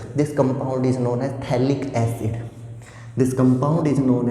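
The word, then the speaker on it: phthalic: This compound is known as थैलिक acid. This compound is known as थैलिक acid. This compound is known as थैलिक acid. P silent होता है यहाँ पे।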